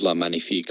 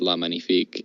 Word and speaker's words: La Magnifique: and then I meet magnifique which I'm probably pronouncing wrong from crimson coast which is a French five master yeah I think I had a copy of La magnifique but I I think it's pronounced lemony fake I ended up breaking